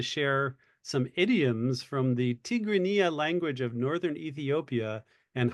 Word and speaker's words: Tigrinya: First of all, the language is pronounced Tigrinya, not Tigrinya. Tigrinya.